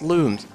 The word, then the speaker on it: Lums: I believe they're called most people would pronounce them Lums but apparently they're pronounced looms but I I can